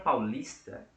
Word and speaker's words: paulista: Mas na palavra paulista, eu tenho 3 sílabas. Paulista. E somente uma delas pode ser a sílaba tônica. Na palavra paulista, a sílaba tônica é o lis, tá bom?